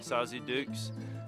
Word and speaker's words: Sauze d'Oulx: So this is our first morning in Sauze D'Oulx, and it's Sauze D'Oulx.